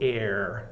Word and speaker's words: air: But air, I guess what's tricky about it is the A and the I together make an like air sound. So it rhymes with pear, it rhymes with care.